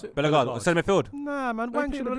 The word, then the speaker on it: Bellegarde: He But does- it's that other guy, Bella Gordy. Is that his name? How you pronounce it? Bellegarde, centre midfield.